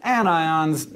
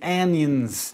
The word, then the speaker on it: anion: become negative are anions you'll notice despite the rules of English that these are pronounced cations and anions not patient's in anyons the most basic ions